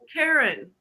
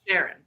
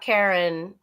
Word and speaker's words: Charon: Oh, that's how you pronounce it, Sharon. Okay. Well, I heard a British person saying it, and British people are often pronounce things weird. So that's I thought Karen it's Charon.